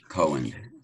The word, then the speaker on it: Cowan: All right, so I think the first one we'll do is Glenn here, pronounced Cowan. Cohen, yeah. Cohen, okay.